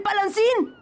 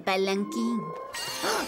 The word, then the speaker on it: palanquín: de Body eso es el palan en realidad se pronuncia el palanquín son las chicas tienen